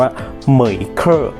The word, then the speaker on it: MEIKE: ไม่ ถนัด นะ ครับ จริง ๆ มัน น่า จะ อ่าน ว่า เหมย เกอร์ มือ อีก เกอร์ เป็น